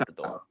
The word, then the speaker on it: Eduardo: Eduardo is Eduardo. yeah. It's really hard. That R is really hard to say.